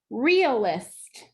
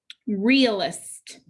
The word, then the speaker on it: realist: The E is making the sound with a macron. The A is silent. Realist. That first syllable is accented. Realist.